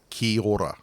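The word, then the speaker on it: kia ora: how to say that so it's k-i-a-o-r-a so Kia Aura but the way uh Maori pronunciation is it becomes basically kihora so um yeah just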